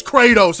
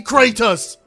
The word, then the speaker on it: Kratos: action Kratos takes craters you as folks can pronounce anything however you want but it's Kratos okay I don't care how British you are it'll never be Kratos moving puzzle pieces with